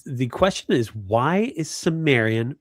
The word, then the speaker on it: Cimmerian: If you speak English it's Cimmerian.